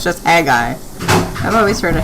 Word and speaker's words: Haggai: And let's check how we pronounce Haggai. Haggai. Oh, it's just Haggai. I've always heard of Haggai.